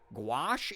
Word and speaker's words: gouache: hobby to pick up gouache is how you say it okay cool yeah no Haley